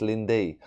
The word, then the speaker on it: Lindy: Is it Lindy? Not Linda, it's Lindy.